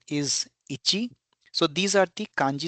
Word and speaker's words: ichi: 1 is ichi.